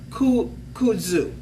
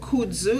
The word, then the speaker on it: kudzu: doctor make sure that you're okay all right kudzu it's an ancient chinese herb called kudzu and how you spell this and i hope